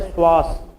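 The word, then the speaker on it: psoas: और एक आता है स्वास कौन सा पीस में साइलेंट होता है शवास इधर देखि कभी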